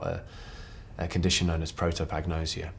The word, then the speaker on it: prosopagnosia: a condition known as protop agnosia or prosopagnosia as the Americans pronounce it and I was playing